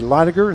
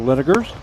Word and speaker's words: Linegar: It's supposed to be Linegar instead of Linegers.